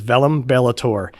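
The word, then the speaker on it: Verum Bellator: The correct pronunciation is Velum Bellator, and the literal Latin interpretation is Truth Warrior.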